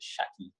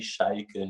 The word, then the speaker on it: Schalke: way of butchering names so good as she pronounces it shaggy shaggy shaggy how would you say how do the Germans properly pronounce it they say FC sheikha Nokia repeat that one more time for the